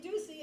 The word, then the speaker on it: Ducey: Or there was a player named Ducey, and that rhymes with I love Lucy.